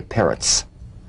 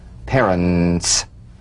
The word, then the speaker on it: parents: Don't say parrots. Parents. That's carrots.